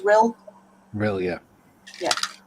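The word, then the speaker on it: Rhyl: Julian says, I think that's pronounced Rill.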